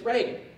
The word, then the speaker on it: Reagan: And it's Reagan. It's Ronald Reagan. And the MC says, oh, are you sure now? It's Reagan, it's not Reagan.